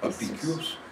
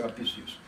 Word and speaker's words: Apicius: Je prononce toujours à la française. Je ne dis pas Apicius, ou Apicius, comme disent les curés. Pour moi, c'est Apicius. Bon, toujours est-il.